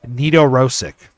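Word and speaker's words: Nedoroscik: This is Steven Nedorosik.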